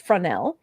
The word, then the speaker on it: Fresnel: jean fresnel oh and she says it is present pronounced fresnel oh i guess so it's fronell invented the lens in 1822.